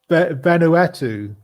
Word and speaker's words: Vanuatu: people on the remote island of tana in venueto probably haven't i probably butchered that pronunciation but no you did that